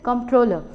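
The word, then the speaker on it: comptroller: in today's section is controller now in this let's see the pronunciation the p is silent over here so you need not bother about the P part it is controller now controller says that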